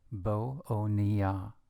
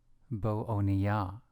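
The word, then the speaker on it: בָּאֳנִיָּה: Now, in the case that the next vowel is a chatef kametz, pronounced o, this influences the preceding vowel, the preceding kametz, to be a kametz chatuf, also pronounced o. That is why this word is pronounced bo-oniyah, bo-oniyah.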